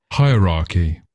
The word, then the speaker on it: hierarchy: So it looks strangely if you think about air you might think oh maybe you miss it out because it looks very similar to air at the beginning but no whatever reason we pronounce this hierarchies. So we said that first bit is like it was high. That first bit comes out high.